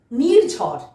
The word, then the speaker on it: নির্ঝর: দন্ত নয় হ্রস্বইকার, ঝয় রেফ, বয়শূন্য র, নির্ঝর, নির্ঝর।